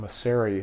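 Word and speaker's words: Mosseri: the chief of Instagram Adam massari I believe is how you pronounce his last name m-o-s-s-e-r-i uh basically came out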